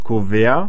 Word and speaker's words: Kuvert: إما نقول كوفير والتي لا تلفظ, نقول كوفير أو بريف أومشلاغ.